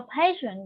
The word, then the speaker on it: passion: For example, I have a passion with my job. I have a passion with my job. Okay, so this word, stress on the first syllable.